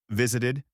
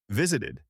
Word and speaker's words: visited: We pronounce ed with an ed sound when the verb ends in the sounds t or d. Why? Because it's hard to pronounce two similar sounds in a row. So, we add an extra syllable.